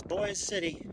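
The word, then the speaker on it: Boise City: cow path right here even though it's spelled Boise uh it's boy City and then uh uh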